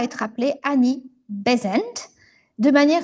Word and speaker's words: Besant: Néanmoins, elle modifié à la prononciation en déplaçant l'accentonique de la deuxième à la première syllabe. C'est-à-dire qu'en fait en anglais, elle avait épousé Frank Bezent et après la séparation,